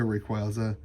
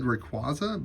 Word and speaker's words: Rayquaza: Very cool Omega Rayquaza. I always said Rayquaza, but the movies, they pronounce it Rayquaza, which is an interesting thing for me to learn.